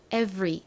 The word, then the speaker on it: every: 그 다음은 every, v, 진동이 느껴지는 이 v, 무슨 알파벳을 써주셔야 되죠? 바로 V이죠. V를 적습니다. 그리고 V 다음에는 소리가 나지 않는 묵음 알파벳이 하나 들어있었는데요. 바로 E입니다.